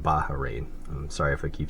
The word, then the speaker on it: Bahrain: flag it's actually pronounced baharin I'm sorry if I keep saying bahin you got to kind of stress the H in it um bahrain's flag is